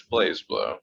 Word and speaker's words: BlazBlue: surprise brew bras but it's blaze it's it's blaze blue for sure um yeah so that also got